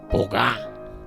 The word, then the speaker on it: boga: Pero en el caso específico del poema del señor Obeso, tan bellamente interpretado por la señorita Lilian, hace el acento en la última sílaba, boga, y se refiere a la acción de remar que hace el boga, nombrado anteriormente, en su champa.